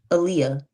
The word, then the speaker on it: Aaliyah: Aaliyah. Yeah. Is that's how to pronounce your name? Aaliyah. Like the singer.